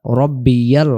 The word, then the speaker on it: রব্বিয়াল: রুকুতে যখন যাব আমরা বলব সুবহানা রব্বিয়াল আজিম। এখন আমাদের ভুল হয় কোথায়? তাহলে সে ভুলগুলো আমি আপনাদেরকে ধরায় দিতেছি। প্রথমে শব্দটা যেন সুবহানা না হয়। সুবহানা রাব্বিল আজিম আমরা বলে ফেলি অনেকেই।